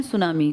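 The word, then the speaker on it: tsunami: जिसमें T silent लिखते हैं। ऐसे बोलते हैं। लिखते हैं टी सुनामी। बोलते हैं सुनामी।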